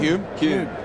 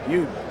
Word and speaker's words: Hume: Home? Hume. Hume.